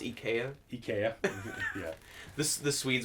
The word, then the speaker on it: IKEA: what sir I don't care yeah it's actually pronounced EK o DK yeah yeah this the Swedes will be extremely